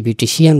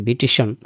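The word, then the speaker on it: beautician: বিউটিফুল বিউটিফাই বিউটিফিকেশন বিউটিশিয়ান যাকে আমরা বাংলাদেশে বিউটিশিয়ান বলি উচ্চারণটা বিউটিশন এই যে বিউটিশিয়ান বা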